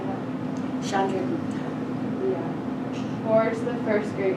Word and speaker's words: Chandragupta: Chandragupta.